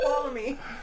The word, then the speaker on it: Tuolumne: Oh, it's Tuolumne.